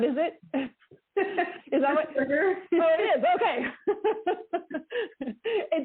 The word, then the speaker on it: Pittsburgher: Pittsburgher.